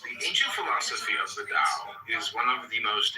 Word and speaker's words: Tao: The word Tao, properly pronounced Tao, has lent its name to a way of understanding and living in a world with profound implications for modern societies.